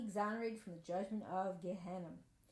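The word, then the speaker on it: Gehinnom: from the judgment of Gehenna. Or it's pronounced, I think, Gehinom is how it's actually pronounced. It's the English, but that's how it's pronounced.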